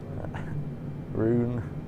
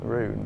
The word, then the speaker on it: Rouen: Rouen. No, it's Rouen. Is that Rouen? Rouen. Right, okay.